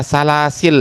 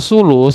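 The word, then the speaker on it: ثلث: itu pada sampaiil ya jangan dibaca salasil ya jangan jangan salah itu. Siapa yang baca salasin? Banyak. Bukan cuma Pak anu orang Depok. Orang Depok tuh semuanya dua-duanya tuh orang Depok. Dua-duanya ada salas tapi maknanya itu yang pelan atau lamban gitu. Tapi kalau sulus nanti jamaknya adalah aslas itu artinya sepertiga.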